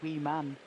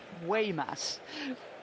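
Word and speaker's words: Weemaes: his name I think he's going to say we man but it's it's way way Mass we must we must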